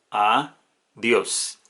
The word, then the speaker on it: adiós: Entonces tenemos adiós. el acento recae en la última sílaba de la palabra.